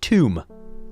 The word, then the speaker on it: Thumb: Thumb. Pronounced tomb.